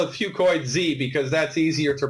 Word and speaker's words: fucoidan: say that ten times fast I call it whew coid Z because that's easier to pronounce but really the correct way to say it is few coins okay two coins is an encapsulated few coiling